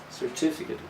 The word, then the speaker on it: certificate: certificate or certificate well if you check the phonetic transcription in your dictionary it will show that the second syllable is the strong one certificate but the stress can